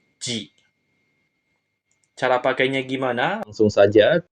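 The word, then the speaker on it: 耳: enam goresan ya minasang untuk kunyominya adalah Mimi yang artinya telinga ongyominya J Cara pakainya gimana langsung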